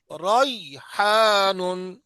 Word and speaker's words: ریحان: ہاجر ہاجر ہاجر ہاجر ریحان ریحان را کو بڑا پڑھو ریحان را کو بڑا پڑھو ریحان ريحان ساهون ساهون آه.